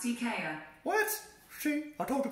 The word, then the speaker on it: IKEA: That's pronounced IKEA.